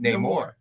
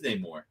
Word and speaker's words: Namor: You're mispronouncing it. Namor. It is Namor.